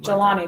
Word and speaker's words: Jelani: is and then and then uh Jelani Stone jalani that's how you pronounce it we just want to make sure